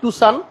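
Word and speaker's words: Tucson: আমরা যে গাড়িটা নিয়ে কথা বলবো গাড়িটা হচ্ছে হুন্ডাই টুসান। এই নামটা অনেকে ভুল পড়ি, অনেকে টুকসান বলি, অনেকে টাকসন বলি, আসলে এক একজন এক এক ভাবে এটার উচ্চারণটা করে।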